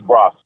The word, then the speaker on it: Grossi: And, of course, thank you for setting up Coach Grossi. I always want to say his name in a different way, but that's correct, right, Coach Grossi? It's Grossi.